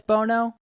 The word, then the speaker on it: Bounou: Is it Bono? Is that how you say it? I believe it's Bono cuz and like I'm I pretty think sure that's how you technically say it too. it's technically spelled Bounou, I but I think it's.